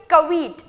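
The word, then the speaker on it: caveat: Next word है कवीट। किस तरीके से प्रोनाउंस करना है भाई? कवीट, इस तरीके से प्रोनाउंस करना है।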